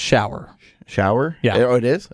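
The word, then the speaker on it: Schauer: his name was Mitch shudders it's actually pronounced shower shower yeah oh it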